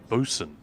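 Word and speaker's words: boatswain: label on this character batain see in England that is pronounced bosen oh it's not mental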